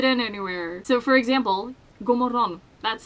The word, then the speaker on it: GODMORGON: People probably think that it's pronounced like GODMORGON, like you pronounce all of the letters, but you don't.